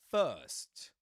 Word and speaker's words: first: You will usually pronounce that as right? Like thirsty or first. First, second, third. Yeah, you've got two examples there. First, FIRST, if I'm not mistaken. You've got the IR. First, then third. THIRAD. Or, yeah, THIRD actually. So you've got first and third, and you pronounce that with a vowel sound.